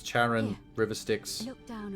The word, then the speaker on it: Charon: The name you heard wasn't Karen. It was C-H-A-R-O-N. As in Charon, the ferryman of the dead.